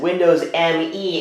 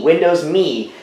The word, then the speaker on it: Windows Me: phonetic the phonetic pronunciation but Microsoft intended for you to pronounce it as the word me just me Windows me so I know I